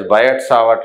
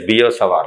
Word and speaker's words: Biot-Savart: People call it as Biot-Savart law, but actual pronunciation is Biot-Savart law.